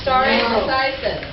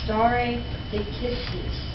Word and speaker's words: stare decisis: Is he pronouncing that correctly? Stare decisis. No. How is it pronounced? Raise your hand. You, sir. Aeneas. It would be stare decisis.